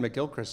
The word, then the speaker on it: McGilchrist: Am I pronouncing Ian it? McGilchrist.